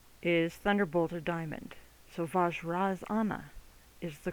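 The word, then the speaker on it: Vajrasana: So, vaj razanna is the correct pronunciation of the entire Sanskrit word.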